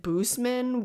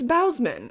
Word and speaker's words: Bausman: lynn bausman and also possessed by horror pronounces it boostmen which i don't know which is correct maybe i'll let me google that right now it's bausman i was right anyway so he's directed